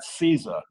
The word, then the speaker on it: CISA: and infrastructure security agency people tend to call that seiza but it's spelled cisa and they've included those